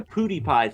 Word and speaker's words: PewDiePie: If you're talking about PewDiePie, please say his name right. We went over this before. Pood rhymes with Jew. Die rhymes with T. Pie rhymes with D rhymes with T.